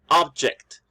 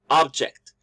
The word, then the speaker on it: object: The stress is in the first syllable, object. You can also see the little apostrophe in the phonemic transcription, which is giving you, it's telling us where we should stress the word. So object, it's a noun.